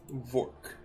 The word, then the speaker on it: Vork: Vork. Fork, but with a V instead of an F.